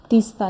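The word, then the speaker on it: Teesta: Actually तीस्ता ही बोलते हैं, बट the spellings are different, but वही सेम चीज़ ही है।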